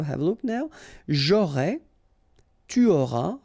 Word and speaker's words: tu auras: J'aurai, tu auras, final S not pronounced, il aura, elle aura,